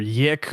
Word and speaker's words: YIIK: In my brain, it will always be yeek because the Nintendo Wii taught me that two eyes together are pronounced like weak. However, in the g you have made it canon, the weirder pronunciation of it because because Michael says yik in the game, the right one.